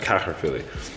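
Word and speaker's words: Caerphilly: Water would surround his castle at Caherphilly completely, and that's how it's pronounced, Caherphilly.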